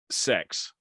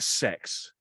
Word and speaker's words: CeX: It's spelt, the name of the place, CEX. Yeah, it's commercials on the telly call it sex.